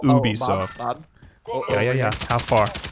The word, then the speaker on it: Ubisoft: Ubisoft its Ubisoft or Ubisoft what do you say I say Ubisoft Ubisoft but the French way is movie so far like literally only like